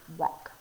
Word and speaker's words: walk: of a surprise sometimes you may not picture the l being in the word walk but it's there it's kind of like a slick sound that kind of slips in there sometimes but walk is spelled